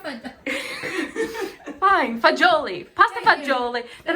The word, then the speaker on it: fagioli: Fine, fagioli.